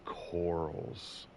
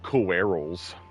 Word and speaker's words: corals: Anthony, if you ever see this, it's corals. Like coral. Like Rick from The Walking Dead. Coral. It's coral. Anthony likes to say coerals. Like he really overpronounces the word. Like he just sounds it out.